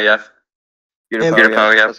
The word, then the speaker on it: Utapau: Utapau, yeah. Utapau, yeah. That's how it's pronounced.